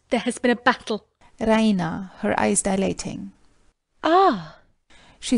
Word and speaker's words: Raina: she pronounces it the Rena with the stress on the e r she goes to